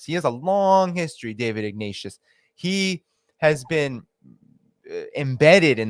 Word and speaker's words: David Ignatius: But I wanted to show you David Ignite. So I don't know if you know Dave. I'm saying his name wrong. David Ignatius, I think his name is.